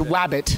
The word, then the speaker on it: Wabbit: the new Looney Tune show wabbit am I pronouncing it correctly yes it is wabbit it's wabbit now be a darling and give